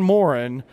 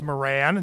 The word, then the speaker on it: Moran: Another fellow who I think should be a queue line actor, Morin from Brimstone Haunt. How are you? It's actually pronounced Moran, not Morin.